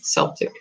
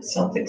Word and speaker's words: Celtic: So interestingly, I pronounce it Celtic. My daughter pronounces it Celtic and corrected me one day. So I went to look it up. And guess what? Both ways are correct.